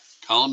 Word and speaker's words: column: with this word column column is spelled MN and the N is silent so I was taught